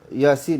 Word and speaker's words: Yasin: Tuan-tuan dan puan-puan di sini jangan lupa bacanya Yasin bukan Yasin.